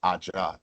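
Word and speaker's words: ajá: And then so she said Aja, AJA.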